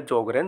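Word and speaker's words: Sjögren: रहे हैं जो ग्रहण यहां पर एस जो है वो साइलेंट है और इसका नाम है जॉगरण सिंड्रोम जो भी ऑटोइम्यून कंडीशन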